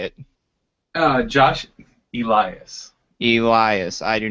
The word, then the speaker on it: Elias: Elias.